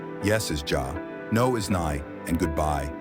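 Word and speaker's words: já: or daughter daughter 13 in Icelandic hello is pronounced Halo thank you is talk yes is Jah no is nigh and goodbye is bless 14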